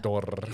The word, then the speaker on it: Mordor: They love to trill the R's on Mordor, yeah. Mordor. Yeah. Like it's in Spain or something. Yeah. Mordor. So odd. It is canon. It is canon. It's canon to say it like that.